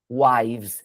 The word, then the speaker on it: wives: Wives. Já reparou, né, que não é para falar esse E aqui, mas é difícil não falar ele.